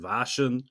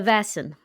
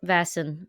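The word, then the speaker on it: Vaesen: Um, with a Swedish uh Vassen Vassen. Okay. So, no vashin or no vas. Vasin? No. Uh, vasin I've heard as well. Um, no, it's vas vasin. Very similar. Okay. It's an a sound.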